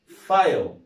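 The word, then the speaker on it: file: لكن دي احنا قلنا اف اي ال اي يبقى اسمها ايه؟ فايل، يبقى اسمها ايه؟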